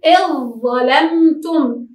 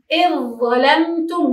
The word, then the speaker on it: إذ ظلمتم: المثال إذ ظلمتم، كيف ننطقها؟ نقول إذ ظلمتم، إذ ظلمتم، وكأنه لا وجود للذال.